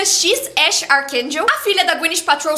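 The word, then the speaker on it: X Æ A-12: Não dá para esquecer o nome do filho do Elon Musk que é X Ae a-1, mas que pronuncia X Ash Archakel.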